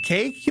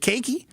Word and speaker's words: cake: You don't pronounce the E on the end of cake. You don't pronounce it cakey. It's cake.